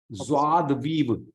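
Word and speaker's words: joie de vivre: सर हाँ, 6 वाले का प्रोनाउंसिएशन क्या था? ज़्वाद वीव.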